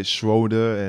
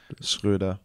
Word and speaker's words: Schröder: People say Schröder, and it got to a point where my mom came to me and she was like, why are they always saying it wrong?